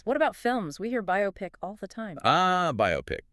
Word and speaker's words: biopic: And there's something funny about how we say it. Yeah, the pronunciation. And originally, it seems it was B-Y-O-pic. Makes sense, right? Bio plus pic. Sure. But often today you hear bioec, which is probably, well, folk etymology, people just guessing how bio and picture